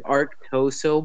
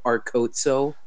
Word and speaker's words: Arctoso: How do you say your name? Arctoso. Because it's Arctoso, but all you pronounce it is Arcoso.